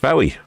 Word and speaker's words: Fowey: Uh shipmate Tim says that Fowey's Fowey's pronounced Fowey.